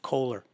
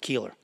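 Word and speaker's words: Koehler: lot of books out some people pronounce it ker he pronounced it Keeler but he's probably right I I think he would be Bill Keeler uh and he's got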